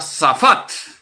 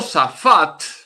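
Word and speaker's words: שָׁפַט: S-A-P-H-A-T, se pronuncia safat. El verbo safat, en hebreo, significa gobernar, liberar y juzgar.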